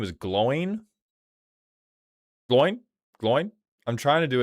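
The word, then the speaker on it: Glóin: Glowin's name is one syllable, by the way. Are you telling me this man's name is Glowin? Glowing.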